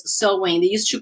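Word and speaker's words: Samhain: it through my slide but the pronunciation is so and that's why like they used to say the pronunciation is sewing they used to call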